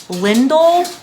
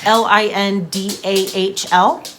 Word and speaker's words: Lindahl: The Lost in Time shawl is a free pattern by Johanna Lindahl, I think is how you say it. It's like Lindahl.